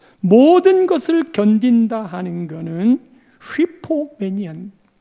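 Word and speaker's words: ὑπομένει: 모든 것을 견딘다 하는 것은 휘포메니안. 헬라에는 휘가 있어요. 근데 영어에는 휘 표현이 안 돼요. 그래서 그냥 HU라고 기록했는데 휘포메네이, 마크로수메이, 스테게이, 휘포메네이 모두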